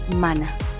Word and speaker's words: hermana: Remember the letter H is silent. So we will say mano mana.